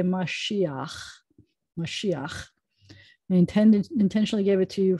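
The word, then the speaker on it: משיח: end of the word so you're not supposed to say you're supposed to say mashiach intentionally gave it to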